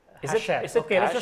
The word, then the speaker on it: Hachette: This is like cash and cachet and Hachette. Is it Okay, let's cash? just call it Hachette.